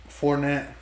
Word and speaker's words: Fournette: How do you pronounce that name? Fournette.